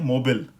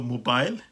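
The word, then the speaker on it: mobile: तो अमेरिकन में इसको कहते हैं, अमेरिकन प्रोनाउंसिएशन में ये है मोबिल, और हमारे लिए है ब्रिटिश प्रोनाउंसिएशन में मोबाइल, ठीक है। अब इसी तरह का एक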